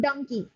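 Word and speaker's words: Dunki: theme of srk's film the term Dunkey a collalto I pronunciation of donkey donkey right but dkey dkey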